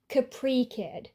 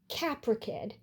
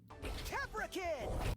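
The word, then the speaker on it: Caprikid: For a while, I pronounced it like Capri, but upon re-watching, it turns out that he stresses the sounds differently and says it as Capricid. Capricid.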